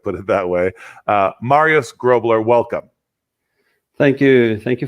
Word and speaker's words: Grobler: Grobler. Okay. Yeah. Okay. Not Grobler like the. It is from German a couple of hundred years ago, but you can say the G a bit softer.